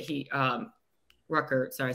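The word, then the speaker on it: Ruckert: so and they have this young guy jeremy ruckett he um rucker sorry i said it wrong there we go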